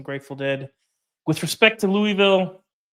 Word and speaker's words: Louisville: listening to some Grateful Dead with respect to Louisville. By the way, it's Louisville.